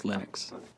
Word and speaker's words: Linux: And I really don't care how people pronounce my name, but Linux is always Linux.